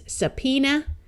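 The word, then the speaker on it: subpoena: so this is Phoenix this B is silent and a at the end of these words schwas so this is sapena this a will also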